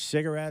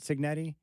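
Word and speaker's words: Cignetti: Coach Cigarette or Signetti, how does he pronounce it? Signetti.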